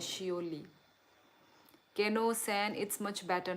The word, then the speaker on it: Seouli: अच्छा, शियोली गाइस, शियोली। मेरा नाम शियोली है, ऐसे करके प्रोनाउंस कर सकते हैं, शियोली।